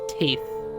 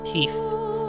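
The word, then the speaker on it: Tithe: regarding family is uh the name of teeth or teeth t-i-t-h-e pith yeah tip or teeth you can pronounce it either way all right and it's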